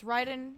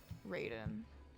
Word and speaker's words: Raiden: the ride on Shogun so it's it's Ryden Shogun and then and then in uh Mortal Kombat it's Raiden that's my fault that's also